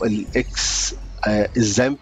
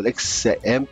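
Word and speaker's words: XAMPP: بروح داخل على جوجل، تمام، واخش على موقع اسمه الاكس الزامب او الاكس امب، ماشي كده، على حسب ما انت هتنطقها، ماشي كده، وانزل اخر اصدار لي، وانزل اخر اصدار لي، ماشي كده.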